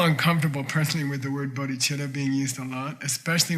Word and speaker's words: bodhicitta: You don't spell bodhicitta with a C. It's cha, it's ch, duh.